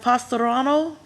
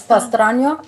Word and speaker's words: Pastrano: All right, next we have Pastorano Parkway. Can someone speak to that? Am I pronouncing that correctly? It's Pastrano, Pastrano? Okay, Pastrano, see, all yes, right, and Priscilla Harold for the record.